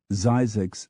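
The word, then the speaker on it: Zzyzx: Skillet Texas sweet gumhead Louisiana why not Mississippi zyx Springs California spelled ZZ yzx cold ass creek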